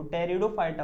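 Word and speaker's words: Pteridophyta: फिर से बोल रहा हूँ, जो बेटा पी है ना यहाँ पे, वो पी साइलेंट है, वो टेरिडोफाइटा होता है, पी टेरिडो नहीं, टेरिडोफाइटा, ओनली टेरिडोफाइटा।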